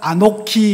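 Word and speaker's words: אָנֹכִי: 아니를 강조할 때는 발음하기가 어렵잖아요. 그래서 아니는 아노키 이렇게 발음합니다.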